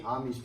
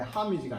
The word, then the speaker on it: homage: pay homage to. 여기 h가 있는데 이건 묵음이에요. 그러니까 발음이 안 돼. homage가 아니에요.